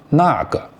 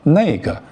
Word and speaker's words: 那个: Actually, the correct pronunciation is 那个, but 那个 is the casual form, just like how English